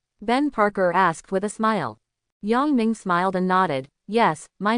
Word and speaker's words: Yongming: Peter Parker glanced back at Yongming and greeted him listlessly. "Hi, I'm Peter Parker." "Hi, my name is Ming." "Nice to meet you, Yummy." Yongming. The crooked pronunciation is really.